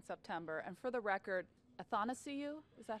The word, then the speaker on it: Athanasiou: I'll see you in Traverse City in September, and for the record, Athanasiou, is that how you say it? Athanasiou. It's like I want to see you.